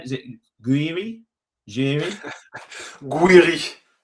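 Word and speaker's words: Gouiri: Two goals from uh, how do you pronounce his name? Is it Guiri Jiri Guiri? Guiri.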